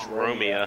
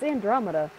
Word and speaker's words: Andromeda: Did you really mispronounce that? It's Andromeda.